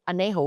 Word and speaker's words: añejo: Añejo, which is spelt as a n e j o, but j is Silent. ha.